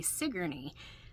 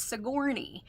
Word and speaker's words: Sigourney: they would if I tell them how to say sigy um they were very very upset um that their local news kept saying it wrong so they kept was saying it was soury and this bothered this